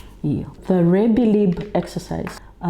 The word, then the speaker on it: rebbilib: which was around the Rebbilib. Yeah. The Rebbilib exercise, it's not English, it's not Fijian, it's actually a Marshallese word from the Marshall Islands, and it's spelled Rebillib, Rebbilib.